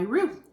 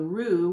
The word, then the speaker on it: roux: going to make the roux, which is the sauce. It's roux, R-O-U-X is how to spell it.